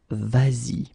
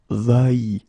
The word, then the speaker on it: vas-y: here, because basically, even if the form is normally va like that, you will have to modify it and put this S here, just to get the sound vas-y, instead of va-y, okay?